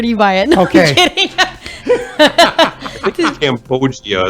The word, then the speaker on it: cambogia: you buy it okay cambogia is how you say this loggia okay but I think